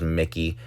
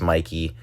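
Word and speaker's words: Mikie: video, I had called that it would be Mikey Cheryl versus Jack Chidarelli. Uh, the only discrepancy was I didn't know how to pronounce Mikey Cheryl's name and I apologize for that. I thought it was Mickey.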